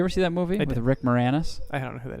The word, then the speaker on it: Moranis: So Moranis is actually like how he pronounces it and tells people to pronounce it, but it's definitely written more anus.